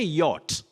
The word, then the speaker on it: yacht: And then we have Steve Jeffrey, we say yacht, not yacht. There is nothing like yacht or yachting. You say yacht, that is Y-A-C-H-T, yacht.